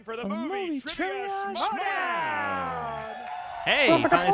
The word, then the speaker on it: Schmoedown: Schmoedown.